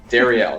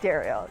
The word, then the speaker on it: Darriel: right now miss Dariel Dariel is how you say your name right Dariel yeah it's a pretty